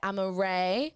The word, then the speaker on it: Amarae: That was Sociopathic Dance Queen by Amaray. How do you even spell that?